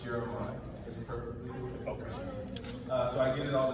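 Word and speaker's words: Jere'My: 20 minutes to the pronunciation of my name it's jeremiah it's pronounced jeremiah so i get it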